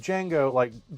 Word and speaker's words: Django: And Django, I think Django was a. Oh, I'm gonna mess this up. I The can't. D is cross silent. The D is silent, indeed.